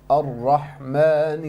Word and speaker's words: Ar-Rahman: And also your ra, make sure you pronounce the ra clearly. Ar-ra, ra. Ar-Rahman ar-Rahim, not Ar-Rahman ar-Rahim. When you're saying that, I cannot hear any ra coming out.